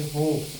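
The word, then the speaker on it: hope: जैसे यहाँ पे देखिए होप, होप, इसको क्या पढ़ेंगे, होप। इस वर्ड का उच्चारण हमको करना है, इसको नहीं करना है, ठीक।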